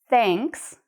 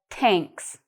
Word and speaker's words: thanks: In English, when we pronounce "th", our tongue has to come a little out of our mouth and touch our top teeth.